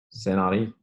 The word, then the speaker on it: Saint Henri: Saint Henri. Yeah, Saint Henry. There you go. You got the pronunciation and everything.